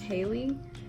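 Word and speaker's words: Haile: is from i believe the first name is pronounced haley and i'm not going to try to pronounce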